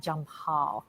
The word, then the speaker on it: Jampal: and we are talking we are talking about jump Hall and I hope I am pronouncing that correctly junior did I correct that